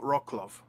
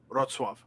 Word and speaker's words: Wrocław: Um, uh, so I actually looked up the name of the city because I know it's not Rocklove, but now I've forgotten the pronunciation.